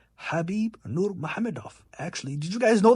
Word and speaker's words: Khabib Nurmagomedov: Pronounced Khabib Nurmagomedov.